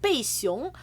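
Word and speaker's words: 贝熊: nickname in Chinese is called 贝熊, which literally doesn't sound like anything what it's supposed to be, but it's like Bay Bear. Like it's her. So that's her nickname. Her nickname is Bay Bear.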